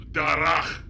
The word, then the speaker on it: Darach: His name is Darach. It's pronounced Darach.